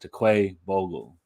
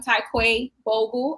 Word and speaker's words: Tai'Quay Bogle: Please correct me if I'm wrong, but Tai'Quay Bogle. It's cool. My family says Tai'Quay, but phonetically it's Tai'Quay.